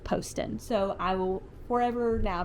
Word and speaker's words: Poston: I have heard her say that it is pronounced Poston so I will forever now be saying Ashley